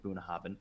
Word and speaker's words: Bunnahabhain: mature into distinctive malts the idyllic location of bunhoven pronounced and meaning mouth of the river in gaelic